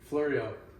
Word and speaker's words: Fleuriau: Fleuriau.